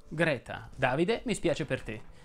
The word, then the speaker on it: Greta: si pronuncia aperto egle lo stesso discorso vale per greta ma anche qui in italiano propenderei per la è aperta greta davide mi spiace per